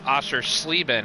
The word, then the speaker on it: Oschersleben: It's Oschersleben. I think you said Schleben.